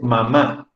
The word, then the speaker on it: mamá: amo a mi mamá mamá que se refiere a madrid ánimo de madre es una palabra que lleva tilde y que lleva la rayita en la última vocal en la última a mamá pero también existe la